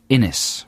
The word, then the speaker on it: Innis: this is from scott innis rhymes with guinness my grandad is entirely